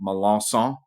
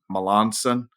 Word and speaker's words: Melancon: here couple of pronunciations I'm from south Louisiana so my last name is pronounced malanson but normally I just tell people it's malanson seems a little softer for for most native English speakers so born and raised